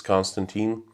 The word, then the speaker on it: Konstantin: It's Konstantin. But a lot of people, it's not a classical way to pronounce and write my name. Well, Konstantin is pronounced the same but written differently.